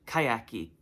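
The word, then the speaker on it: Kaiak: Kayaki. It's kayak, but in Portuguese you pronounce the not vowels, what's the other one? Consonants at the end of a word. So kayak is kayaki.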